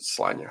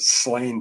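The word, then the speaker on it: Sláine: I think it's probably pronounced Slanya. A lot of people pronounce it Slain because that's how it's phonetically spelled.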